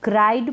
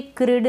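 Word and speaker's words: cried: ट में हम उस ट को थोड़ा कम प्रोनाउंस कर रहे हैं, वो वॉइसलेस होता है। ये है अराइव्ड। क्या है? अराइव्ड। इसको क्राइड पढ़ेंगे, क्रिड ना पढ़ें, इसको पढ़ेंगे फिल्ड।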